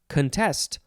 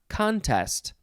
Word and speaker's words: contest: last word it is the word contest or contest emphasize either syllable it's spelled c-o-n-t-e-s-t this